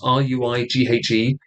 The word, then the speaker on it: Ruighe: Ruighe. All the letters except for the R and the E are silent.